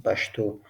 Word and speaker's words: پښتو: If you like here, some people pronouncing Pashto, most people pronouncing Pashto, and some people pronouncing Pashto, but the correct pronunciation is Pashto, Hin, Pashto.